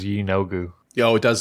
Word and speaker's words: Yeenoghu: All right, and we're going we're it's uh it's an emphasis on the first syllable, is that right? Yeenoghu?